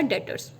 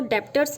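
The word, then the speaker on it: debtor: में जैसे है आपका डीटर यह 20 साइलेंट होता है इसमें इसको देबटोर्स नहीं पड़ेगा और दातार से आपका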